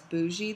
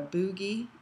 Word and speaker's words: bougie: is ask your doctor what size bougie they use or some people call it a boogie um but it's is